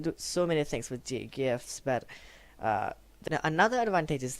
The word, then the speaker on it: GIF: Now when you next image type, that's going to be GIF or Jiffy, that is pronounced as, stands for graphics interface format.